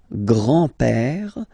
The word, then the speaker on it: grand-père: So, le grand-père, grandfather, le grand-père, remember, accent grave like that, it's this open père, le grand-père, le grand-père. And then the feminine form, grandmother, la grand-mère, la grand-mère. Okay, so les grands-parents, le grand-père, la grand-mère.